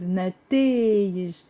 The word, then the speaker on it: نتائج: But of course when I use طلعوا they went up with نتائج. نتائج. It's 3 syllables.